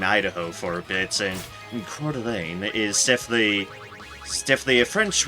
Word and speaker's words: Coeur d'Alene: it was very easy to run into people mispronouncing them like like I used to live in Coeur d'Alene Idaho for bits and in Quarter Lane is definitely definitely a French word a lot